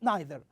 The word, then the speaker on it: neither: that you we use we hear neither with another pronunciation we hear it as neither okay did you hear it neither sometimes okay that is the difference between the american english and the british english so we say neither